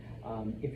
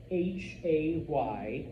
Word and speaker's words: hay: Now, there is a word there, H-A-Y. It's not hay, not what you feed your horse. All right? Remember, H's are silent, so it's pronounced I.